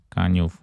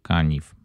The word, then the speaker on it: Kaniów: Kaniów czy Kaniw, zależnie od wymowy.